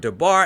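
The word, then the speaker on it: דבר: syllable using the word the bar as an example. The stress or force of pronunciation falls on the last syllable bar.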